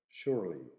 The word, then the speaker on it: surely: the most common pronunciation the second example is the word surely surely three syllables in America but normally two in British shortly shortly so surely